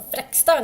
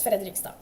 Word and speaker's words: Fredrikstad: Or Frekstad, no, that's not how they say it. It's a joke among Norwegians, but it's not how they say it. It's Fredrikstad.